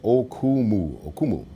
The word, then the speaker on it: Okumu: My name is phonetic, Okumu.